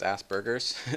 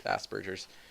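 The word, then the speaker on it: Asperger's: it's called Aspergers um a lot of people mispronounce it as Asbergers when they first see how it's spelled but it's it's like French or something like that and it's not Asbergers it's Aspergers um I always get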